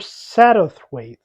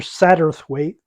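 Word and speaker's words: Satterthwaite: Harley Quinn um in Mr saddothwaith it's hard for me to pronounce it but it's s-a-t-t-e-r-t-h-w-a-i-t-e so it almost makes me have to have a lisp um Mr satterth weight doesn't have a first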